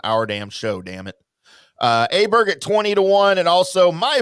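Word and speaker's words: Åberg: him Ludwig Aberg, that is not how you pronounce his last name. It is not Aberg. It is Aberg.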